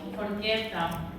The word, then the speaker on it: forchetta: Forchetta. Con doble T.